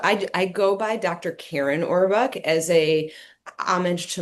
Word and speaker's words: Kerin: Karen Orbuk as a homage to my dad. My dad is no longer with us, but he's one of the reasons why I am a physician. So Karen is my maiden name.